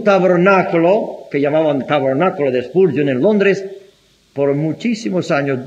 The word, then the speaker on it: Spurgeon: Tengo que pronunciarlo mal para que me entiendan de quién estoy hablando. Se llama Spurgeon. Pero tengo que decir Spurgeon para que me entiendan.